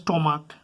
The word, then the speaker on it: stomach: যেমন ধরো স্টমাক, যে সিএইচ এর উচ্চারণ কয়ের মতন হয়, তাহলে সেক্ষেত্রে আমরা ইএস যোগ করবো না, সেক্ষেত্রে শুধুমাত্র এস যোগ করবো।